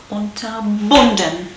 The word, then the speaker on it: unterbunden: Important is that you stick to that rule in terms of pronunciation or emphasis. Unterbunden.